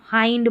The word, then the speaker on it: hind: जैसे इसको हिंड नहीं पढ़ेंगे। इसको हाइंड पढ़ेंगे।